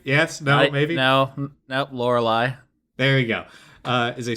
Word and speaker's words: Lorelei: All right, Season 2, Lorelei. Is that pronounced right? Yes? No? Maybe? No. Nope, Lorelei.